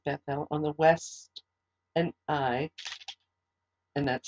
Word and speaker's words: Ai: Haron Haron died um and but uh lot is is haran's son but he goes with Abram